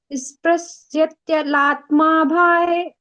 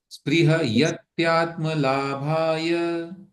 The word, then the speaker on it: स्पृहयत्यात्मलाभाय: निशामयति निशेष निशामयति निःशेष मिन्द्रजालोपमं जगत् मिन्द्रजालोपमं जगत् स्पृहयत्यात्मलाभाय स्पृश्यत्यलात्माभाय स्पृहयत्यात्म स्पृहत्यात्म नहीं, स्पृहत्यात्म नहीं, उसमें यह भी है एक। स्पृहयत्यात्मलाभाय। स्पृहयत्यात्मलाभाय। हाँ ना, स्पृह के बाद में यत्यात्म का आपको उच्चारण कर सकते हैं।